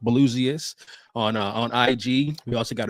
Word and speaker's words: Blusiast: So that's pronounced Blusiast on IG.